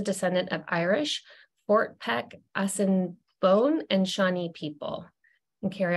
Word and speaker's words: Assiniboine: Harry is a descendant of Irish Fort Peck Austin Bone and Shawnee people and Carrie I'll also asked you to be sure that I or I pronounced your tribes correctly yes Fort pack Assiniboine Cinnabon thank you so fun facts about Carrie